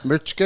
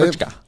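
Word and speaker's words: Mička: MKA Mitchka is how you say Mitchka.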